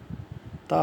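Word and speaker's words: tak: তা ফাহাম, এটা বাংলায় লিখলে হবে তাক, কে তাক হবে, কিন্তু এখানে কে উচ্চারণ হবে না, তা ফাহাম।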